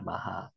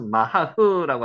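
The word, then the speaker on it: מחה: 마하. 요거는 뒤에 발음이 거의 약하기 때문에 안 나게 발음하심이 맞습니다. 그래서 마하흐라고 안 하고요. 마하라고 합니다.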